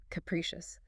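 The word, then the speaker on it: capricious: Capriccious. Three syllables. Stress on the second. Capriccious.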